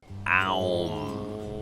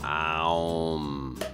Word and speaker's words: AUM: Aum. Yeah, that's how it's pronounced. Aum. Like the yoga mantra.